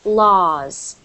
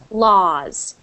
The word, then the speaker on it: laws: so that is pronounced laws laws H so you don't pronounce the W you pretend it just says l a s pronounce it like this